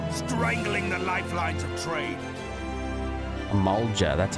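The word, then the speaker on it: Amalj'aa: beside our robes strangling the lifelines of trade amalga that's how you say that meanwhile the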